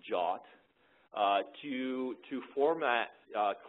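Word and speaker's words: JWT: the use of JW Json web token which by the way it's pronounced jot uh to to format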